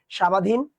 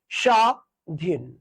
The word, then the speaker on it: স্বাধীন: জোর দিয়ে বলতে হয় যেমন দেখতো শুরুতে ব আছে বটা কি এখানে উচ্চারণ হয়েছে না আমরা কি বলি এটা সামাধীন না আমরা কি বলি এটা স্বাধীন তাহলে এখানে জোর দিতে হবে স টা একটু জোর দিয়ে পড়তে হবে বলতে হবে সধীন সধীন ঠিক আছে স জোর